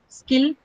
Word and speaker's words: skill: Skill, no aspiration. Kill, aspiration is available for ka.